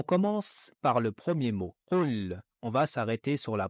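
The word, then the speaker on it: قل: On commence par le premier mot, qul.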